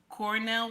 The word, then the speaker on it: Cornel: mhm yeah I ain't lying I ain't lying Cornell West very intelligent brother very intelligent brother I